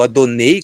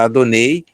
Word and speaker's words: Adonai: que Celebra yahvé a Adonai ou adonei como é a pronúncia correta adonei no episódio de salvar